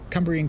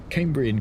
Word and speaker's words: Cumbrian: Gav says, "Wow, Scott Rail, Cumbrian Coast, not Cambrian Coast.